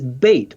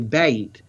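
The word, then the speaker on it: בית: of a house, and the Hebrew word for house is beit, or actually bayit is the normal form. Right. So bayit is a house in Hebrew, and when you see the house, you pronounce the B sound.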